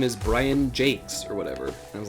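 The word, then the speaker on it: Jacques: brian sharp redwall yeah brian jack is how you pronounce his last name actually oh really okay it's actually no it's not jack it's jake's brian jakes i think interesting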